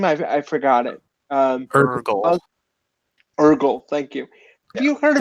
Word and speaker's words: Eirgle: I forgot it um Ergo thank you have you heard of someone um it's spelled by the way just a Virgil but without the V okay Google um and